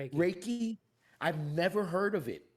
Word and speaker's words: Reiki: It really resonates with me with the um how do you say the Ricky Reiki Raiki Reiki.